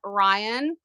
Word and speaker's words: Ryon: That is the work of Kristen Ryan, and it's spelled Ryon.